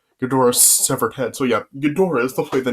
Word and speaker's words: Ghidorah: of the monsters i kept calling him uh jadore yeah his name is actually pronounced godora so yeah i'm so i'm not correcting myself